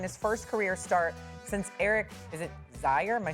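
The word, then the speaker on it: Zeier: Shedeur became the first Browns quarterback to win his first career start since Zaire, am I saying it right? Yeah. Zaire in 1995.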